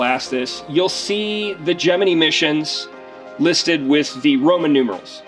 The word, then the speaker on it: Gemini: That's actually, NASA had to put out a press release to tell everybody in 1965 how you pronounce their program. Because people were saying Gemini, because that's what most people think of. That's what you get taught in the schools, etc. But NASA was saying Gemini.